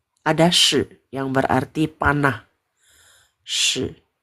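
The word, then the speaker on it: 矢: Shi. Ini bacanya shi. Yang berarti shi ya. Oke, shi. Shi. Ya, nada ketiga shi.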